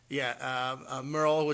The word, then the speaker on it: Merle: Merle, whose name rhymes with girls.